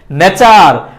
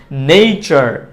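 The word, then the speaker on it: nature: ন্যাচার ন্যাচার ন্যাচার ন্যাচার কিন্তু এটার সঠিক উচ্চারণটা হচ্ছে নেচার ন্যাচার না নেচার একটু আগে যেটা পড়েছি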